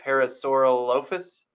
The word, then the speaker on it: Parasaurolophus: all of us yeah I tend to try to pronounce things based on like the actual greco-roman you know Greek and Latin eighth key words that make them up but I don't always get that right and sometimes it is